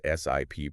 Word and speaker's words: SIP: That's SIP pronounced like you're taking a sip of water.